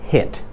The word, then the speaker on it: hit: I jak mówisz hit zamiast hit, to wiesz, hit to jest gorąc. To jest coś zupełnie innego. To się poprawnie wymawia hit.